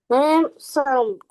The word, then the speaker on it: handsome: احنا اخر حاجة كنا بنقولها حرف الدي لو جه قبله حرف ساكن وبعده حرف ساكن لا ينطق، تمام؟ مم. يعني كلمة وسيم هننطقها ازاي؟ هان صم. handsome طب handsome.